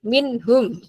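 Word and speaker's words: منهم: Oh, nggih, minhum. Harus dibaca jelas ya Pak Vicky ya. Minhum. Nah, ya. Kadang kita itu saking menikmatinya itu membacanya minhum gitu ya Pak Vicky ya. Minhum. Padahal harusnya jelas ya.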